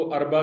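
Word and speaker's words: اربع: तो ये बुध यानी वेडनेसडे, जिसको अरबा कहा जाता है, अलिफ पर जबर, रे साकिन, बे पर जबर, और एम जो है वो साकिन, अरबा।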